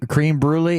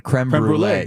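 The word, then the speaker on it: crème brûlée: me real quick cream cream brulee it's a creme brulee okay okay so we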